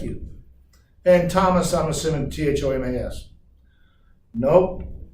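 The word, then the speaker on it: Tomes: And Thomas, I'm assuming T-H-O-M-A-S. Nope, not that either. It's T-O-M-E-S, pronounced Thomas.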